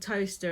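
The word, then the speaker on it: Towcester: like um toaster there's a place called toaster and that's felt really funny you wouldn't know it was pronounced like that and there's a village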